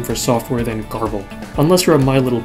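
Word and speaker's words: Grbl: screenshot by the way I looked it up gerbal is a totally kosher pronunciation and a far more interesting name for software than garble unless you're a My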